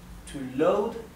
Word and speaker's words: load: Pero si fuera un verbo regular, como por ejemplo cargar, to load significa cargar. Recuerden que la O y la A se pronuncian O. Por eso esto es load, no es load, es load.